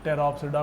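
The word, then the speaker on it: Pteropsida: है किसको टेरो, तो टेरोप्सिडा को टेरो। पी साइलेंट रहेगा, पटेरो नहीं बोलेंगे।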